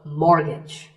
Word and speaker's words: mortgage: The first syllable is more and the second is gidge, so mortgage.